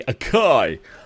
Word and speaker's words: Akai: Akai or as the Americans say, Akai. Uh, I think the Japanese say Akai as well. I don't know. But we Brits always say Akai.